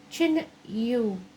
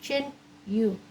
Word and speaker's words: Tinne: Chin U is what it's called, how it's pronounced. Chin U.